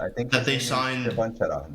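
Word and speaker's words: Čvančara: Chevanchera. That's how you pronounce it, Chevanchera.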